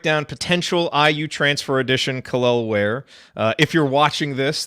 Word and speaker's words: Kel'el: Yeah, Is it Kel'el? Khalil, somewhere in that range. It kind of floats back and forth, but you got it. You got it close Okay.